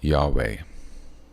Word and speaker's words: Yahweh: as that deep connection with God which is Yahweh those letters y HW all caps is pronounced Yahweh okay y a h w e h in